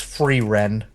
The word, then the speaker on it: Frieren: It is called F R I E R E N. It's free ren.